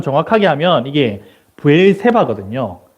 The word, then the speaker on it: 브엘세바: 남기게 하기 위해서이 발음을 여러분 이거 이제 히브리어 발음 정확하게 하면 이게 브엘세바 든요 예 근데 이제 영어 미국 사람들은 이걸 발음을 어떻게 하냐면 시바라 그러더라고요 예 그래서 브엘세바에서 엘리야가 무엇을 했냐면요 세바